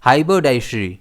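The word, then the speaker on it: haberdashery: इसे हम प्रोनाउंस कैसे करते हैं? हाइब्रोडाइशरी। इसमें स्ट्रेस डीपर रहता है।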